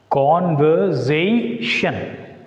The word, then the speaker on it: conversation: Though the word begin with the prefix CON, here there is an extra suffix ION. So whenever the word ends with the ION, it takes stress on the penultimate syllable. Penultimate. So penultimate means second syllable from the end. So where should we put the stress mark on? S. Conversation. So S is the penultimate syllable here.